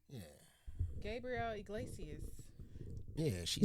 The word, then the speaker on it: Gabriel Iglesias: Gabriel Iglesias.